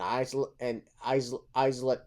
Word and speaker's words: Isla: Somebody told me it's Isla. Isla. Dust. What is it? Is it Isla? It's Isla Dawn. That's the silent. Yeah, I think it's Isla. The S is okay. The S is silent.